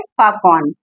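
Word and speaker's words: falcon: English में क्या है फाकन यानी एल इस में साइलेंट है फाल्कन लिखा जाता है फाकन बोला जाता है चिल्ले है चिल्ले माने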